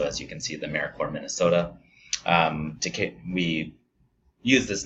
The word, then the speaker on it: AmeriCorps: knows off the bat AmeriCorps is pronounced like core and you don't say the piece and finally just to